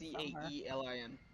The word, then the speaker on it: Kaelen: If you're talking about Kalen, it's It's Caelin.